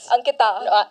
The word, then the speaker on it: Ankita: Ankita. Yeah, pronounced it right this time.